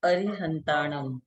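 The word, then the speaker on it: अरिहंताणं: नमो अरिहंताणम, अरि, र में छोटी की मात्रा है तो हल्के से बोलेंगे।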